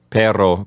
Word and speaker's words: perro: help us to pronounce perro correctly okay Pedro it has two R's whenever we have two hours together you have to roll there's you stronger than when you have only one are like for example